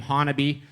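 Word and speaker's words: Honobia: You pronounce that name Honaby.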